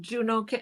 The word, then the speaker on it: Juneau: It grew into Juneau. I'm sorry. It grew into Juno or Juno. I don't know how you say it. Juno. Yeah, exactly.